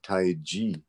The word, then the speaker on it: Tai Chi: In Mandarin, it's a J sound, J, Tai Chi, G, like that. But for some reason in English, we use the old Wade Giles spelling CH to make a J sound.